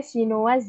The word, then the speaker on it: chinoise: Bacanya chinoise ya, jadi ada S-nya karena di belakangnya itu ada huruf vokalnya E. Tapi kalau nggak ada huruf E di belakang dibacanya itu chinois.